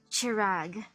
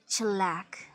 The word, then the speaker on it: Chirag: you Mr magnate it's it's chirag not chillak Mr Harrison of course